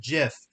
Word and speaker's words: GIF: They do animated GIF or GIF, if you are bothered by that Right.